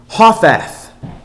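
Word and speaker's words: חָתַת: If we look at that word for dismayed in Hebrew, it's Hothath. Hothath, which is H2865. Hothath. And that's spelled Chathath.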